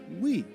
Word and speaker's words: Wii: The Wii is pronounced as Wii, which emphasized the console is for everyone.